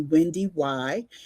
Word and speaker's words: WendyY: I'm WendyY, and most people call me WendyY. Yes, you do pronounce the second Y.